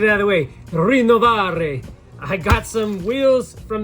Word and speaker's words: Rinnovare: Rinnovare. I got some wheels from the homie Chris over at Rinnovare Wheelz. Insert how to say it correctly. Rinnovare.